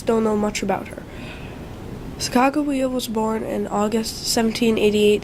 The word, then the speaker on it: Sacagawea: Well, have you ever heard of Sacagawea? If not, here are some facts. Sacagawea's name is really pronounced Sacagawea.